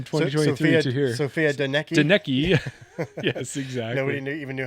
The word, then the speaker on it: Donnecke: Donnecke. Yes, exactly. Nobody even knew how to pronounce her name back then.